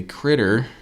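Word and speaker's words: Kritter: And the next one is a Critter, spelled with a K, and he is a like minion in Donkey Kong.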